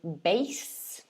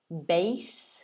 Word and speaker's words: bass: this is number two notice the pronunciation at the top is bass bass so it's a this